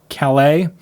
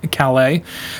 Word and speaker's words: Calais: hannah ford in kalai calais maine it's a french name so i'll pronounce it like uh over in france calais um no chicken breasts